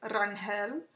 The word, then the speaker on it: Rangel: The way you pronounce my last name is Rangel.